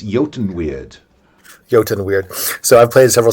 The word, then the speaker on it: Eotenweard: So it's Eotenweard.